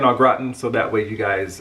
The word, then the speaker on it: au gratin: in the united states we call it au gratin potatoes but it's actually ogratan that's the way you pronounce it okra oh graton i think i'm pronouncing it right i don't have the